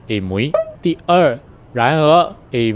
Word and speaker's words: Amoy: 1: The name of the city in English -- 'Amoy' Should actually be pronounced as 'Ei-Mui' 2nd.: However, it is not the local accent Instead, 'Ei-Meng' is the real local